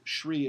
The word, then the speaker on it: Sri: Sri Aurobindo, Sri is S-R-I with a dot under the I, so it's pronounced with an SH, and it just means it's like an honorific.